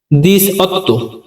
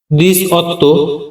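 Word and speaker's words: diciotto: মানে 17 পরবর্তী সংখ্যা 18 18 এর ইতালির উচ্চারণ দিস অত্য দিস অত্য মানে 18 পরবর্তী সংখ্যা 19 এর উচ্চারণ দিসান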